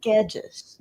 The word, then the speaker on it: Guedes: Yeah, and just because we already asked him for his last name, then did not pronounce it at all. This is Dylan Guedes.